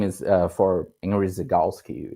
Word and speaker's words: Zygalski: And So yeah, maybe we can also talk about Ziga more, or how do you pronounce it? It's Ziga? Zygalski.